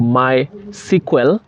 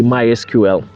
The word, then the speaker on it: MySQL: to introduce you to my sql that is how they pronounce it but in actual sense it's mysql so um mysql is